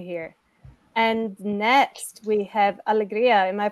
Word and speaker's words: Alegria: to have you here and next we have Alegria am i pronouncing this right yes that's correct hi my